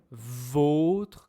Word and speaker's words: vôtre: omar or ça va ce sont les deux sons de votre comme votre tasse. Tenez, c'est votre tasse ou vôtre comme c'est la vôtre. Vautre. Donc ici la prononciation est très importante.